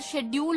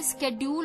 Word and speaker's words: schedule: सो पहले तो स्केड्यूल जो होता है, शेड्यूल नहीं बोलते, स्केड्यूल प्रोनाउंसिएशन होती है। तो स्केड्यूल SCHEDULE स्केड्यूल।